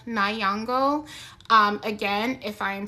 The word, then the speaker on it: Nyong'o: So I think it's pronounced Lupita Nyong'o.